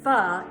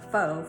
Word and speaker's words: pho: my faux fa and actually fu is pho which i pronounced faux for the longest time until i was corrected but it is this